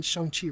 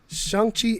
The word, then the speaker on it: Shang-Chi: Kevin Feige told us all we pronouncing Shang-Chi wrong. What? Shang-Chi, not Shang-Chi. What? Shang-Chi. No, what? No, that's It's an A.